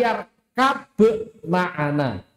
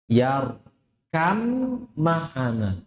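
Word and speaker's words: ٱرْكَب مَّعَنَا: Huruf ba yang sukun kan qalqalah bertemu dengan mim. Bacanya bagaimana? Yar kam maana bnya hilang. Kenapa? Bnya masuk ke huruf min datatan wa sifatan. Secara dzat dan secara sifat. Jadi bacanya bukan yarkab ma'ana tapi yarkam ma'ana.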